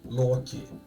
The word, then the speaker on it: Loki: For example, you would say Loki, I would say Loki because that's what his name is, Loki, the the god of mischief.